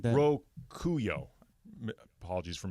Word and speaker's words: Rokuyo: is part of it's in Japanese culture called Rokoi. Day of Luck or something like that. Rokuyo. Apologies for mispronouncing. Rokuyo.